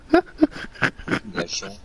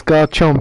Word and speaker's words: Garchomp: Gachon. Gachon. It's Garchomp, innit, really.